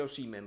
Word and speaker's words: Osimhen: Il fratello lo saprà come si pronuncia il suo stesso cognome, si dice Osimhen. Noi però possiamo, perché siamo napoletani e fieri, possiamo dire Osimhen. E con questo il dissing è concluso.